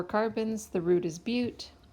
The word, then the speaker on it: but: And finally, the B for bananas actually stands for bute. So if now I know it's spelled but it's pronounced bute.